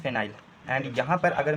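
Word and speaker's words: phenyl: अगर सब्स्टट्यूटेड ग्रुप में लिखते हैं तो यहां पे इसका हम यूज़ करते हैं फेनिल। ठीक है? इसको हम लिखते हैं फेनिल या फिर फिनाइल। ठीक है? And correct pronunciation is फिनाइल।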